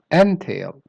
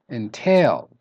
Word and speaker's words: entail: So if you stress the first syllable, N, you're going to say entail, which is a noun. And if you use it as a verb, it will be entail. So stress the tail.